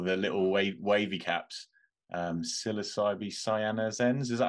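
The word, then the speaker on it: Psilocybe cyanescens: popping up all the little wavy caps um psilocybee cyanos ends is that how you pronounce it I'm not even sure psilocybee cyanescence is the there you go is the the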